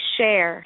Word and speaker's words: Scherr: name right hi george my name is share share okay well they tell me to say shay and then i almost got well it doesn't sound like that it's not spelled like that but i'm like okay so